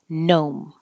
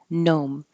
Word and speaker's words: gnome: the T genome genome if you see this word very similar looking but just G in makes an N noise gnome gnome elves it's a weird